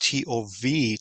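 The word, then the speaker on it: טוב: In Hebrew, it's be pronounced T-O-V, Tov, which is one of the first words you learn when you're speaking Hebrew because it means good.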